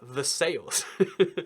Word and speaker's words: Versailles: Guess how this is pronounced? It's pronounced Versailles. And it's pronounced Versailles every single time it comes up in America.